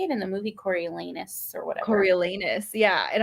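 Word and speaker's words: Coriolanus: name I was like reading it like Cornelius and it's like Corel corilanus cor corus corus anus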